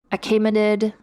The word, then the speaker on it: Achaemenid: Technically, it has a different name, the Achaemenid, or I listened to a pronunciation, Achaemenid dynasty, but we're just going to call it Persian Empire.